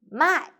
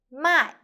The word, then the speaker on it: 卖: The word of the day is 卖. In this video, I will teach you how to pronounce it, how to write it, and how to use it.